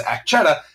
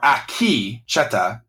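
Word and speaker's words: Akecheta: first came up with our original pronunciation was act chata because we didn't hear it it was just in written form so I'll take the blame for that but now that we've heard it we are gonna do better at it could a key or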